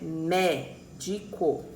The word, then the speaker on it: médico: Aqui eu tenho uma proparoxítona, que é a penúltima sílaba tônica, que é a sílaba forte aí, é a antepenúltima, desculpa, antepenúltima sílaba forte, que é médico, certo?